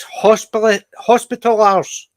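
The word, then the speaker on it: Hospitallers: See, My to me, dad was I always really- think of hoplars, but it's hospitalars.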